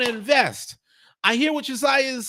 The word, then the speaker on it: Uzziah: Aaron B said it's pronounced like Isaiah, like in the Bible, just spelled differently. Yes, Uzziah is a biblical name, just like Isaiah is.